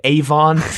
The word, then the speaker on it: Avon: Avon is 2 syllables and Avalon is 3.